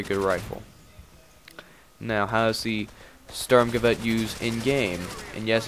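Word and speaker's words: Sturmgewehr: it's a very good rifle now how's the storm Gazette use in game and yes it is pronounced stormgavette um it is probably the best it's the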